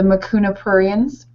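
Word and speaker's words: Mucuna pruriens: the supplements that we've been talking about the makuna purans I pronounced it did I pronounce it right absolutely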